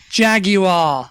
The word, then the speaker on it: Jaguar: Would you say Jaguar? Jaguar. That's how it's said.